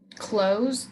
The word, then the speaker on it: close: Close, like close the door, close.